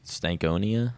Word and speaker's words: Stankonia: That's Stankonia?